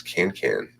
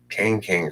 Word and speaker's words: Kang: Who's Can? Oh, that's not how you say his name. No, Can. It's Kang Krishna Sarvapagu, or KKSP.